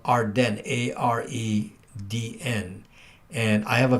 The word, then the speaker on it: AREDN: 10 used to be, no, Arden is spelled AREDN, not Arden like that.